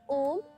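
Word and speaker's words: Aum: So it is not actually Om, it is a combination of 3 syllables, A, U and M.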